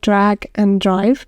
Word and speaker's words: Drag X Drive: I think it's called Drag and Drive, but it's written down as Drag X Drive, but apparently it's pronounced like and for some reason.